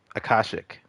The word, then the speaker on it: akashic: uh akashic that's that's how it's pronounced uh that these ties